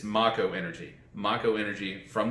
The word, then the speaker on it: Mako: the planet I'm sorry they pronounce it I have they're pronouncing it make over years but it's ma Co energy my own energy